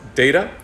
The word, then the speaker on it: DETA: Education and Technological Advancement, or DETA, which they pronounce DATA.